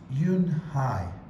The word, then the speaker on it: Eun Hye: Kim then turned to Joey she nodded slowly yes it's pronounced Eun Hye and he means grace mr. Kim added Eun Hye Josie Joey said slowly at this time perfectly